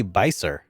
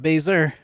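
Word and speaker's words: Beiser: baser baser bei bei no no it'd be by sir right because that's a that's a german pronunciation bei would be by sir like AI as an Einstein the town of by sir nope nope not BAE's err nope its bye sir lots of traders use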